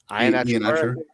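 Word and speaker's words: Iheanachor: How do you pronounce that last name? Ionaker? Oh, the big Arizona State kid? Yeah. Ionacher. Atcher. Okay.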